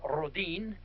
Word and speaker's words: Rhoden: And uh uh Rhoden, in he's a Swedish extraction, uh is pronounced Rodin.